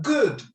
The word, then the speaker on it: good: I'm having a good time. Mira que tiene las dos O seguiditas y las dos O seguiditas, lo mismo que look. Good se pronuncia como U.